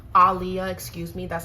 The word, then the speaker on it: Aaliyah: regarding Jay-Z and people are connecting him to Aaliyah Aliyah excuse me that's how you say her name Alia people are connecting him to the great Alia